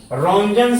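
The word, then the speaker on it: Roentgen: थोड़ा सा ध्यान दीजिएगा रंजन की स्पेलिंग पर आर ओ ई एन आर ओ ई एन और यहां भी बच्चों टी आ रहा है ये भी साइलेंट होता है आर ओ ई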